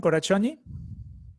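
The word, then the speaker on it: Karácsonyi: Her name is Korachonyi, is correct, the pronunciation, Korachonyi? Okay, good morning. Yes, it's very good.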